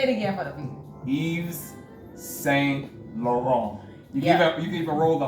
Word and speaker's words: Yves Saint Laurent: Don't say Yves Saint Laurent. Or Laurent. Laurent. Yeah. T is silent. Yeah. There you go. Exactly. Say it again for the people. Yves Saint Laurent.